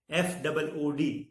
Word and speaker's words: food: In FOOD, food, it is long O, food, and FOOT, foot, it is short one.